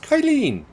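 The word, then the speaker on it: Qilin: world catl unveils new quillin ev battery with incredible specs that's pronounced kyleen i don't know yeah no with that high pitch poison it's kyleen yeah just like that yes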